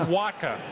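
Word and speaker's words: Wacha: St Louis by mid-september you didn't even know how to pronounce his name it's pronounced Waka and everybody knows Waka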